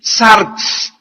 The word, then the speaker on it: sarx: La palabra carne es una palabra griega que se escribe sarx, S de Samuel A-R-X, sarx.